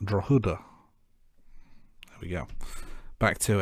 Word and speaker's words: Drogheda: And Google tells me that the town he was born in is pronounced Drogheda.